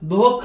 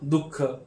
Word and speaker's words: दुःख: दोन टिंब आहेत तर याचा उच्चारण सहसा ह सारखा आलेला असतो पण आपण असं म्हणत नाही धोख असं म्हणत नाही आपण काय म्हणतो दुःख आहा अम आणि आहा